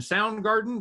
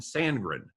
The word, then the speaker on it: Sandgren: So if you had, what is that, Sousa and Soundgarden? John Philip Sousa and Soundgarden? No, Sousa and Sandgren.